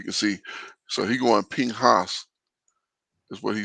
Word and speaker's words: Pinchas: Pinchas.